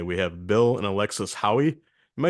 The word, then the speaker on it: Haughey: have Bill and Alexis Howie am I saying that right is is your name pronounced Hoy uh Hai it's like he backwards Hai thank you thank you